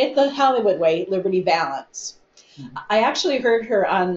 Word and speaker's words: Valance: never asked me, but that's not how you pronounce his last name. So they wrote this song and made this movie and said Liberty Valance, but no, it was Liberty Valance.